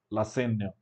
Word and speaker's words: Lassaigne: Lassaigne. We're going to do Lassaigne here.